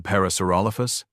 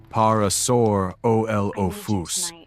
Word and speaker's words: Parasaurolophus: "Even Parasaurolophus?" Travis asked, mangling the pronunciation deliberately. Brooke giggled. Parasaurolophus. You have to say the middle part louder."